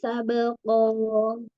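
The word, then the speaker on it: سَبْقًا: sabqo Hm gini ya sabqo Ee qof-nya masih kurang tebal fa fa fasa gitu ya ada udara yang mengalir di situ Di saat pengucapan huruf fa fasabiqo biqo tebalkan lagi angkat pangkal lidahnya coba fasabqo sabqo Masyaallah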